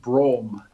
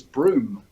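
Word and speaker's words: Brougham: that we do we we pronounced it Brahma Brahma thank you in in in my previous home of bath it was broom no look this this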